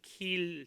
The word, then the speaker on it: Keele: 발음을 잘해야 돼요. KEELE 킬 대학입니다.